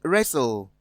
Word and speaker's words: wrestle: Option B, wrestle. Option C, castle. Option D, looked. From the options given, in option A, T is silent. B, T is silent as well.